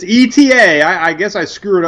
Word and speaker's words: Eta: know well it's it's eta i guess i screw it up like i do every other name it's it the pronunciation is ada i see i think that's correct but it's eta um so the joke